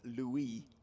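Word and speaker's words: Louis: middlex with no overs lost leis goldsworthy and Louie Kimber don't pronounce the S you spell his name differently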